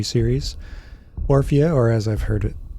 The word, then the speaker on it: Orphea: Orphea, or as I've heard it pronounced, Orphea.